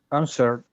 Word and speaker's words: answered: How do you pronounce it? With? Answered.